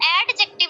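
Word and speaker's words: adjective: एडजेक्टिव नहीं होता बल्कि डी हम साइलेंट कर देते हैं, एडजेक्टिव, ठीक है, एडजेक्टिव।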